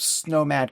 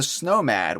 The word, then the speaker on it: Snowmad: And the Tundra Wanderer is almost a clever euphemism for the Snowmad, which in and of itself rhymes with nomad, which is a very fun way of saying Viking.